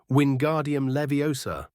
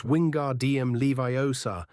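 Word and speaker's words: Wingardium Leviosa: The boy was practically shouting in Hermione's ear, "Wardium leviosa." The girl seemed to snap at his spitting. "You're saying it wrong. It's Wingard DM Leviar. Make the gar nice and long.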